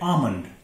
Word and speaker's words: almond: Number 6, ALMOND, ये आलमंड नहीं है, यह है आमंड, एल साइलेंट होगा, आमंड, आलमंड नहीं, आमंड।